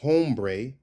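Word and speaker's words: hombre: It's not it's it's not ombre. It's it's not ombre. It's ombre. Ombre. Right. The H disappears. Ombre. Ombre. Not ombre. Ombre. Emphasis on the bre.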